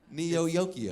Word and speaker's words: Neo Yokio: Neo Yokio.